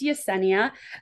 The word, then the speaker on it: Yesenia: Hi, yes, it's pronounced Yesenia, but is fine.